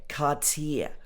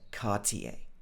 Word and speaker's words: Cartier: people would also say cartier but this is not strictly correct right according to the french pronunciation so normally in the uk we would say cartier almost like the french pronunciation of garcia then we got prada